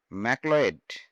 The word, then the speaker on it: Macleod: It was designed by a architect called Colonel দেখো উচ্চারণ Colonel ডানক্যান ম্যাকলেওয়েড। ঠিক আছে, তাহলে হচ্ছে কর্নেল ডানক্যান ম্যাকলয়েড।